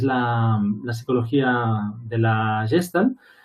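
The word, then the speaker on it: Gestalt: o la terapia de la forma eh gestal gestal es la pronunciación que muy bien María de Viena hace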